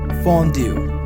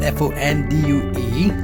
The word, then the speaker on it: fondue: we have a cheese fondue so this is f-o-n-d-u-e so the pronunciation of this one is is fondue f-a-w-n d-o-o fondue pronunciation of cheese this